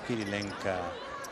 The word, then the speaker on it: Kirilenko: Clar, Kirilenko es diu Kirilenka.